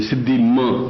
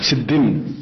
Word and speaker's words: सिद्धिम: देही दे नम इसम एक थोड़ी र सिद्धि बिंदी होनी चाहिए सिद्धिम ऐसा बोलना है सिद्धिम सिद्धि लिखा सिद्धि लिखा